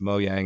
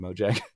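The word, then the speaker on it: Mojang: friends over there uh i think it's mo yang is the proper pronunciation but i always call him moject but there's super cool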